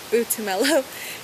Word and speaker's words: Butumelo: I got a Botswana name, which is pronounced Butumelo. Butumelo. It means happiness, and I got it's a very interesting name.